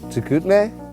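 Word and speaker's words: Chicoutimi: filled with lots of snow how do you pronounce the town we're in i have literally no idea saginay saginaw what's up chikutame chikutmei there you go the first feature we did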